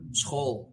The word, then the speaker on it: school: In Dutch, school or school, as we say it, you hear the hard G, so you expect a like SGOOL. No, like we spell it the same as you, like SCHOOL, but it's a SG sound.